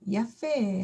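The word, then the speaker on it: יפה: 모음에 해당을 합니다 이거죠 그래서 읽어 보면 요드 플러스 아 하면 이중 발음이 돼서이야 페 야페 하고 읽겠습니다 애 모음을 가지고 있는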